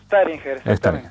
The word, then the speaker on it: Staringer: que se llama Staringer. Ahora vamos a ver si pronunciamos bien. buenas noches, ¿cómo estás? Buenas noches, ¿cómo estamos? Bien, ¿está bien pronunciado? ¿Staringer es? Staringer. Ahí estamos.